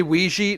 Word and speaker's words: Ouija: it is what it's Ouiji are you one of the people that say Ouija no it's it's not Ouiji it's Ouija no one says Ouija